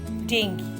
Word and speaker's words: dengue: by mosquito first one is dengue learn to pronounce this word this is dengue dengue is also known as break bone fever